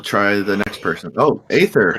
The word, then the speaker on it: Aether: Oh, Aether, how are you? Did I pronounce your name right? I actually go by Aether, but it's technically pronounced Ether.